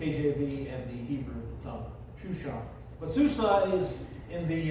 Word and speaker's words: Shushan: Shushan is the proper Hebrew pronunciation. That's actually what it's pronounced in the KJV and the Hebrew tongue. Shushan.